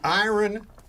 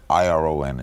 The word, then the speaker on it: iron: iron horse of broadcasting it's iron you don't pronounce it iron that's what everybody tells me it's the Iron Horse like Lou Gehrig was the Iron Horse of baseball yes the word irom is iron no no iron iron right not it should be Iron that's what makes English the world's toughest